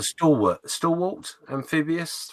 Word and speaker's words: Stalwart: mispronounced that Mark Burgess so it's not Stewart and this is where you need someone of expertise like Tim so it's a stalwart still walked amphibious 5